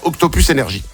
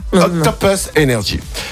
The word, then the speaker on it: Octopus Energy: Eh ben, je le dis bien parce qu'on nous a dit il faut bien le prononcer en anglais et pas faire Octopus Energy. Octopus Energy.